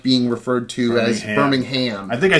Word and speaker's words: Birmingham: I've actually been on numerous occasions thanked for my pronunciation of Birmingham and not Birmingham, which is what most U.S. folks would probably say.